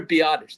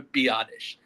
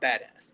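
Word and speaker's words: Biadasz: It's Tyler Biottish. the center. That is his name is Tyler Biottish. Not badass.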